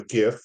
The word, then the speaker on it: GIF: And I ain't no soft G. Word, and don't you dare say it. I ain't no soft G. I'll give you a 4. That's right. He's a hard G.